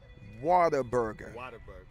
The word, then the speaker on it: Whataburger: In Texas, we pronounce it Whataburger. Whataburger. Did I say it right? No.